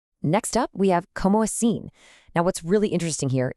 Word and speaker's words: assim: It's not sim like the English word, it's assim.